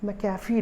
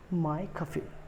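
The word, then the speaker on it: McAfee: मैंने अभी कंप्यूटर में मैकेफी डलवाया है। ये भी एक गलत प्रोनाउंसिएशन है, ठीक है। इसका करेक्ट प्रोनाउंसिएशन है माइकफी, माइकफी। ये मैक MC लिखा है ना, तो लोग मैकडोनल्ड्स होता है, ठीक है, बट इसको बोलते हैं माइकफी।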